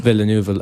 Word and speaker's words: Villeneuve: Villeneuve or something? Villeneuve. Anything that isn't bog standard English, I'm an atrocious pronouncer.